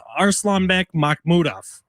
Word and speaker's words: Arslanbek Makhmudov: No, I was going to try to pronounce the name, so I'm glad you did it, but it's Arslanbek Makhmudov.